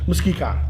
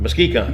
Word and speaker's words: Muskecon: How are we pronouncing this? Muskecon. Muskecon.